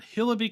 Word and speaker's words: Hillibee: the description welcome to hillaby creek pronounced hill-a-b this is a world